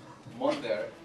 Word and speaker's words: Monther: however like the surprise my name is actually pronounced Monday well but monthly is okay because they know it's like the month there it's kind of like real heavy on that attack so everybody's excused and